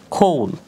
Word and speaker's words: call: এর পরবর্তীতে আমরা যদি দেখি হর হামেশায় আমরা একজন আরেকজনকে কল করে থাকি, আমরা সাধারণত কি বলি? কল, CALL, কল। বাট এটার শুদ্ধ উচ্চারণ হবে খোল, খোল যার অর্থ হচ্ছে ডাকা, খোল যার অর্থ হচ্ছে ডাকা।